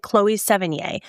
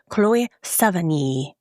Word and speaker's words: Chloë Sevigny: I called her something completely different because I always thought you pronounced it Chloë Sevigny and I understand now that I was very wrong. So, just let me know if I said it right this time. I went to Google, I did a pronunciation. I looked it up. He said, you say Chloë Sevigny.